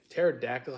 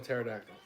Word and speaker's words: pterodactyl: that goes around say why can't you hear a pterodactyl P do you know why cuz the p is silent how do you spell pterodactyl starts with a P